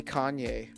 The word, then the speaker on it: Kanye: Is that a Kane or a Kanye? I don't even know how to pronounce that card. Does anyone know? It's a Kanye.